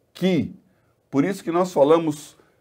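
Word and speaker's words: χ: O chi se pronuncia ki.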